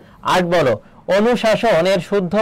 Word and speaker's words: অনুশাসন: সাতের হচ্ছে সঠিক উত্তর হবে খ আট বলো অনুশাসনের শুদ্ধ উচ্চারণ কোনটি হবে অনুশাসন অনুশাসনের শুদ্ধ উচ্চারণ কোনটি